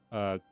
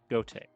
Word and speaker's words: Goethe: Just that thing happened to the German poet Goethe. Is it Goethe? I'm pretty sure it's Goethe. That's how you pronounce it.